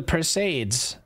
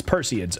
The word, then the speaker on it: Perseids: with the per person it's perseids okay all right as in Perseus that must be some